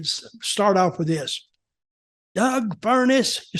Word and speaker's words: Furnas: Doug Fuckness. No, don't say that. Doug Furnas. Oh yes. Doug Fuckness. And I couldn't get him to say Doug Furnas.